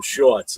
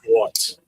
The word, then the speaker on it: Schwarz: Half the time people say his name, it sounds like they're saying Jim Shorts. That's why I start laughing instead of saying Schwarz, you know.